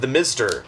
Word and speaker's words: Themztr: Themztr, pronounced the Mizter.